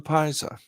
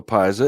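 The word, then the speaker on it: Piasa: Illinois side this tree this stream is the Paisa it's spelled p-i-a-s-a its name is Indian and signifies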